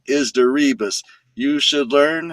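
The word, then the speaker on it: Deribas: It it rhymes with that song. D E R I B A S. The name is Darias.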